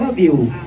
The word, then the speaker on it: Viu: เว็บ ได้ ทุก ที่ viu อ่าน ว่า วิว ใคร ๆ ก็ วิว